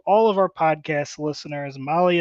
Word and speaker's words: Mahle: And to all of our podcast listeners, Molly is spelled Mahle.